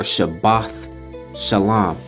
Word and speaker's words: Shabbat shalom: of atonement Sabbath year week Sabbath so it's pronounced Shabbat shalawam or shabbat shalom I have to put emphasis on this because